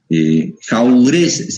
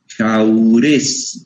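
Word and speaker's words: Jaurès: está dividida su obra en tomos se llama jaurés se escribe con j jaurés lor se lee es jaurés se escribe jaurés yor jaurés jor es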